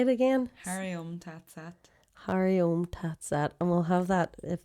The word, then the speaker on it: Hari Om Tat Sat: Hari Om Tat Sat.